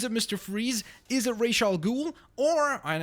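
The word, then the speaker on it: Ra's al Ghul: is a racial ghoul or and I know some people say razal ghoul but I think ra is more correct. I'm pretty sure they've already said before that that is the proper pronunciation.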